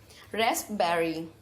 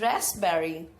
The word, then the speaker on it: raspberry: blueberries next we have raspberry what is it it is raspberry P is silent in this letter okay next we have